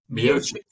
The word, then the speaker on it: Miocic: Stipe, how do you pronounce it? Stipe Miocic.